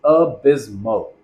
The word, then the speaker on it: abysmal: Finally, we have the powerful adjective abysmal, pronounced abysmal.